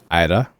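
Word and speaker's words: Aira: the pink haired girl Ida Ida yeah like like it's like a it's it's a it's a it's like it's not a rolling R but it's an r that yeah yeah just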